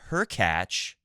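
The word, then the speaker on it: Hurkacz: play the winner between her catch rhymes with latch and Dominic team so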